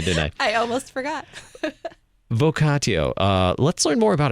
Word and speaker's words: vocatio: you today we do vocatio vocatio um depending on if you pronounce it as a hard tea or a soft tea uh we're going to